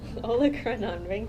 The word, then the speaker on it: olecranon: We have and I'm going to have a hard time pronouncing this word. Anybody want to do it for me? Olecranon.